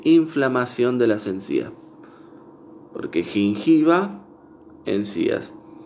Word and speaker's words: gingiva: En latín sería gingiva, gingiva. Pero en inglés se pronuncia gingiva, gingiva, gingiva, gingiva.